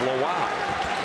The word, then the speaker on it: Lawal: At Virginia Commonwealth, Toby was referred to as Lowell. Brian Cox, their fine basketball sports information contact, Dan. When Toby came to Virginia Tech, they were confirming pronunciation. He said it's Lowell. So those of you who followed the Rams knew him as Toby Lowell. He is Toby Lowell because that's the way he prefers the pronunciation.